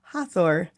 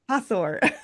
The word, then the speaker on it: Hathor: Hatheror Hatheror. How do you pronounce it again? Do it. Hor. Hathor.